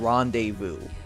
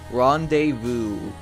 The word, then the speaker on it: rendezvous: Like, tell me where's the Z in rendezvous?